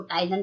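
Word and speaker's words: ptyalin: यानी saliva that contain an enzyme, saliva में एक एंजाइम पाया जाता है टाइलन, इसलिए पी साइलेंट होता है, हम इसको टाइलन पढ़ेंगे।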